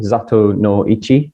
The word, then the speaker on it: Zatoichi: literally means blind one zato no ichi as it is often pronounced in the films uh he was never